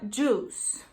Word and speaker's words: juice: E o I você não pronuncia nessa palavra. Então, é juice. Juice. Ok? Então, não é juice nem juice, é juice.